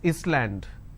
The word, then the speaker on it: island: solution all right but if I have a word which is Island I don't pronounce this as Island so s is silent here okay for example